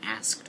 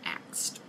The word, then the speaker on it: asked: that, she had been asked about this situation, but she pronounced it with the dialect axed. And Aaryn, being the proper princess that she is, goes, "Nope. Sorry, it's asked, not axed."